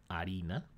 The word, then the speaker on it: harina: In Spanish, there's many letters that are silent, like the H in harina, and there's letters that